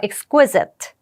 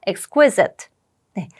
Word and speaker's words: exquisite: 이번엔 여섯 번째 단어네 여기는 강세가 여기 있습니다 발음 한번 해 볼게요 따라해보세요 exquisite 한번 더 해 볼게요 exquisite네 그래서 exquisit 같은 경우는 매우 아름다운 정규한이라고 되어